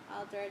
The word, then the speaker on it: ALTR: Oh, and by the way, Alter doesn't have an E, so it's spelled ALTR. Alter, the reason why it's Alter, because we want to change the world, right?